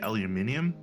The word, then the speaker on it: aluminium: flavor uh no because the spelling actually changes the pronunciation with aluminum versus aluminium whereas taking the U